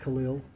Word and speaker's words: Khalil: your name sure uh the first name is pronounced Khalil and the last name is than you sure okay